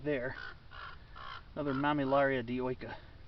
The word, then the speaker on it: dioica: right there another mamilaria dioica d-i-o-i-c-a i usually pronounce the eyes as ease or is some people